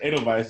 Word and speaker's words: Edelweiss: know that is because edelweiss is spelled with a w in a cell like a v also volkswagen volkswagen you